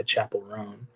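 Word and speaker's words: Chappell Roan: fall of a of a Midwest princess by Chapel rone oh okay is that how you pronounce it yeah Oh I thought it was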